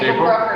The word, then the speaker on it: Brucker: We are with April Brucker. I'm saying that right? Yep, April Brucker. Yep, rhymes with hooker.